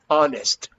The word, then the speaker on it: honest: human different to the other one which is honest honest no no okay so honest the honest